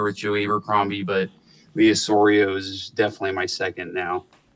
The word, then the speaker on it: Osorio: Yeah, Lee Osorio, and it's spelled Osorio, his last name.